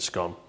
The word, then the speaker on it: scone: What would you call this? Scone or scone? Me, I pronounce it scone, but then I'm from the north. I think scone just sounds weird.